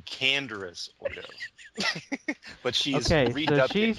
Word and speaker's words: Canderous Ordo: Cannabis Ordo. Cannabis Ordo. Which is actually Canderous Ordo.